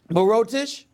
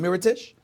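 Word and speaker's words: Mirotić: very simple whether it's Brook Lopez whether it's Moreau Tisch heritage rather I'm sorry I'm know why he put mispronounces name Mira Tisch whether it was earth science euros ela love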